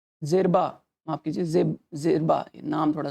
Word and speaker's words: Djerba: Coast है उसका span जो है फैक्स से जेब्रा तक है। जेब्रा तक है, जेरबा, माफ कीजिए, जेरबा, नाम थोड़ा सा प्रोनाउंसिएट करना।